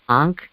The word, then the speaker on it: ankh: be is it i don't know how you pronounce this but it's the ankh the a-n-k-h yeah that's correct right which represents